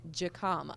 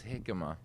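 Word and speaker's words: jícama: Yeah, you want to try to pronounce it the way Americans would normally read it off the A menu? Southerner would have looked at that and called it Jicama. Yeah, and it's Jicama, and that's a frequent question I have here.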